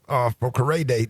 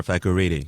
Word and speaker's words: Fakorede: Fakorede. Did I say it right? Yes, sir. Fakorede.